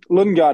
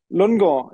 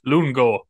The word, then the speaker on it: Lundgaard: do you want me to pronounce it in Danish or in English? All the above. Both, yes. Yeah. Okay, so Lundgaard is in English, obviously. Yep. Which you apparently can't pronounce. Nope. And then Lundgaard in Danish. Oh, all right. Yeah. Christian Lundgaard. So there's no D at the end. Lundgaard. It's a silent D.